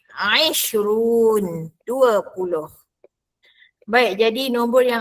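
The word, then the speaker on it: عشرون: Isrun bukannya isrun salah ya. Dia bunyi a isrun 20.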